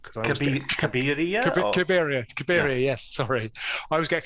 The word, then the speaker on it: Cabiria: Victorian era novels that had been adapted, and Calibri. I always get the pronunciation of that one wrong because Cabiria.